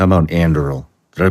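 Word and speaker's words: Anduril: are involved in so many things how about andil did I pronounce that correctly yes so andil is the one that Palmer lucky who got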